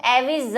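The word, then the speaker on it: Aves: फिर बात करते हैं पक्षियों की, जिसका इंग्लिश नेम का है एविज, है ना, हिंदी में इसको एविज लिखते हैं, स्पेलिंग में एस है, एविज।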